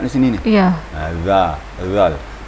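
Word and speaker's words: ذال: Bacanya lembut sekali. Seperti kita ketahui bahawa hujung lidah kita bertemu dengan papan gigi atas. Bukan ke urat gigi ya, tapi papan gigi atas. Dua papan gigi atas. Wa hadzal zal. Dia lembut bacanya. Dan juga gigi kita tidak boleh dirapatkan. Jadi gigi tetap direnggangkan sedikit, kemudian ujung lidah menyentuh papan gigi atas, maka keluarlah makhraj zal, lembut.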